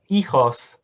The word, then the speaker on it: hijos: what we've done here you might recognize ichos isn't spelled like that but the h at the beginning kind of confuses this whole thing so we've done it